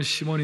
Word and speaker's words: 시몬: 사람이 있었어요이 시몬이라는 사람은 우리 한국식 발음이나 또 고대근동 발음은 시몬 있데 영어식 발음은 사이먼이라는이 시몬이라는 사람이 있었는데이 사람은